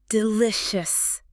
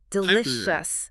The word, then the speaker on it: delicious: Delicious. Delicious. The stress, the power of the word is entirely on the middle part.